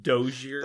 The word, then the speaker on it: dossier: It's pronounced Dozier. Okay, I wasn't gonna say anything Dozier? about how you pronounced Dozier. it the first time you read it because Dozier.